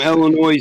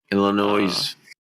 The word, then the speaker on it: Illinois: but uh yeah from illinois to south dakota straight line you don't pronounce the s in the illinois illinois oh i do